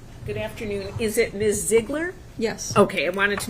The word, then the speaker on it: Ziegler: Ziegler? Yes. Okay, I wanted to make sure I was pronouncing it properly.